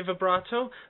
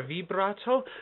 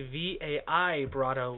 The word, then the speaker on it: vibrato: Okay, there's two ways to say vibrato or vibrato. We don't say vibrato. That would be V-A-I-brato, which is not how we spell it.